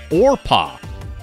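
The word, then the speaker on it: Orpah: Oprah is actually named Orpa. She's named after the biblical figure in the book of Ruth, but people mispronounce it regularly and Oprah stuck.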